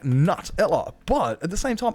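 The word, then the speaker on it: Nutella: yeah it was like I swear it's nut like nut Ella but at the same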